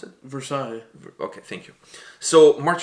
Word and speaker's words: Versailles: March on what was it Versailles how you pronounce it Versailles okay thank you so March from that place